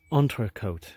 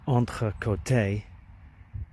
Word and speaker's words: entrecôte: If it was entrecôte, same letters but emphasis on a long E at the end, it would mean between the sides.